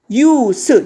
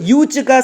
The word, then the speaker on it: use: 유스 유즈가 사용하다고 유스로 발음하면 사용입니다. 명사입니다.